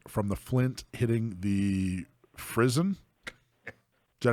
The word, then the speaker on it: frizzen: It allows passage of the sparks from the flint hitting the frizzen. Is that how you pronounce that?